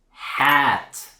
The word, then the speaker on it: hat: So here, the vowel is not in het or hot, it's hat. Ah, at. It's hat. It's a blend of an ah and an eh.